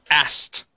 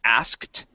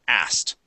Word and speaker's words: asked: on the end okay we do not pronounce that K anymore okay we it it's sounds more like this asked asked okay and if